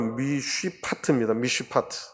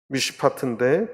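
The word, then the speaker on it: מִשְׁפָּט: 그게 무슨 말이냐면 그들에게 공평을 바라셨더니가 이 공이라고 하는 뜻인데 히브리 말로 미쉬파트입니다. 미쉬파트인데 뒤에 포악이다. 포악은 히브리 말로 미스파흐예요. 미쉬파트. 비슷한 발음인데 그것을 단어로서 배열해서 하나님이 바란 좋은 열매가 안 맺히고 나쁜 열매가 맺혔다.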